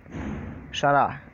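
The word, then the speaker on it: شرع: शरा और शरह थोड़ा सा फ़र्क है, प्रोनाउंसिएशन अच्छे से करेंगे तो, वरना शरा शरा दोनों बोल देते हैं लोग। एक में शरा है, दूसरा शरह।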